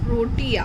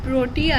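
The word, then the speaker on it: Protea: Hello pile number 3, जिन्होंने भी ये वाला फ्लावर सिलेक्ट किया था, इट्स प्रोनाउंस्ड एज प्रोटिया. मैंने सर्च किया, प्रोटिया है इसका प्रोनाउंसिएशन, और ये कार्ड हम लास्ट में देखेंगे.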